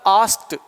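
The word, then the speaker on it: asked: ऐसे ही इसका प्रोनाउंसिएशन होता है आस्क्ड। आस्क बोल रहे हैं, लास्ट में क आ रहा है, ईडी जोड़ेंगे तो टे बन जाएगा और क आधा हो जाएगा, इसे पढ़ेंगे आस्क्ड। लेकिन यदि ये अपने से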